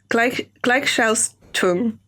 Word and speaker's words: Gleichschaltung: Gleichschaltung. Help me. Is it? Spell it out for me.